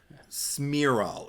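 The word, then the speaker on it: Cmiral: I don't know if it's or smiro is how it's pronounced but it's spelled in a really weird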